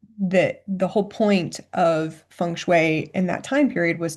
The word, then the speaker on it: feng shui: Let's talk a little bit about first about what funue is and am I saying it correctly?